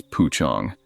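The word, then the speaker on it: pocong: I don't know if any of you have ever heard about a pukong. We pronounce it as puchong.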